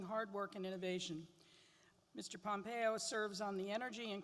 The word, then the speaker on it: Pompeo: Pompeo from Kansas yes that's pronounced Pompeo because I was I was backstage and reminded me about the the volcano and in Italy he was elected